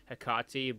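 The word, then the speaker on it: Hecate: of looks like the hakati too or is it the heck it it's uh some pronunciation if the if the anti-material rifle from new vegas was named after a greek goddess then it's hikarti but yeah it looks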